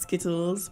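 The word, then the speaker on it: SCTLD: It's actually, the acronym is pronounced Skittles, but it's not spelled like Skittles.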